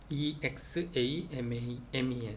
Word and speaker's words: examen: 그 다음에 모음하고 x, 모음, 이렇게 모음 사이에 x가 있다. 그러면은 gs 발음, 그스, 그스, 그스, 그스 발음을 하면 된답니다. 엑사멘, examen, 그래서 엑사멘, 그엑사, 그스, 그스, 엑사멘.